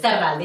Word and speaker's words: Zarralde: I know the R's are hard to pronounce, Yes. but yes, Zarralde, you did it perfect.